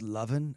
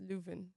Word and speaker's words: Lewin: Are you sure it's not pronounced Lovin, as in McLovin? No, it's Lewin. Okay. It's with a W, but the W is V.